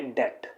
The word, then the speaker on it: debt: इसमें क्या है, बी को प्रोनाउंस नहीं किया जाता, बी is always kept silent, तो यहां इसे प्रोनाउंस करेंगे डेट।